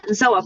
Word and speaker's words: Zoa: have coffee guys zo zoa how do you say your name yeah zoa perfect yeah zo how are